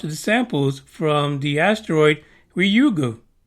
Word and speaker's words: Ryugu: samples from the asteroid rugo actually I think it's the first time I actually said it right I'd rather they just called it rayu because we're all used to that thanks to Street Fighter but no it's got to be ryugu U the capsule containing the